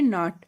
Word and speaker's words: knot: KNOT, KNOT को क्या पढ़ेंगे? नॉट, टाई अ नॉट।